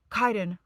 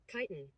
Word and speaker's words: chitin: It's pronounced chitin. So I'm so sorry. Every time I said chitin, it should have been chitin. We're going to hear it pronounced now. Chitin.